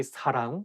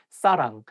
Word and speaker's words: 사랑: The same thing, like you have to say 사랑 with a softer S, not 사랑. And make sure that you pronounce 응 sound correctly. 사랑, not 사랑, 사람, or something else.